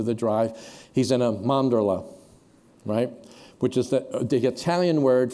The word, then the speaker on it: mandorla: everything you're saying, but say it properly. It's mandorla, mandorla." She was from Italy, and she was correcting my Italian.